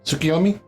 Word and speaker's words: Tsukuyomi: I don't know if I'm pronouncing it right, if I'm her name right. Tsukuyomi?